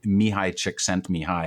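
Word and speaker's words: Mihaly Csikszentmihalyi: is impossible to spell it's even harder to pronounce but it's mihai chick sent me high and he's a i believe he's a hungarian-american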